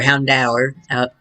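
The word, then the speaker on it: Houndour: the first helm hound or or hound hour out as it's pronounced oh let's play it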